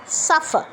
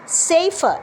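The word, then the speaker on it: safer: যাহাত আমি এ লিখছি আমি কিন্তু সেফার বলবো না আমি বলবো সেইফার আর আরেকটা হচ্ছে সাফার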